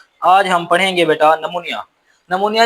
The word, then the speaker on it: pneumonia: निमोनिया के spelling में पी लिखते हैं। लेकिन इसको पिनोमिया बा बच्चे पढ़ते हैं। तो पिनोमिया नहीं है। यहां पी जो है वह क्या है? पी हम लिखेंगे जरूर लेकिन इसको पढ़ेंगे नहीं।